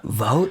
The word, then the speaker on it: Vogt: letting me join you vote that's how you say your name I didn't know that wow see good thing you let me introduce myself right thank goodness I would have said it wrong says vote everybody does it's just like vot like I go to vote like G like G